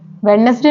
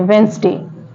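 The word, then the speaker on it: Wednesday: D silent होता है जैसे वेनसडे वेडनेसडे नहीं पढ़ते हैं वेनसडे यहां पर भी डी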